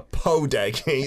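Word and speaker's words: 포대기: A podegi. A podegi. It said like a homie as well. Podegi. Podegi in the Korean pronunciation.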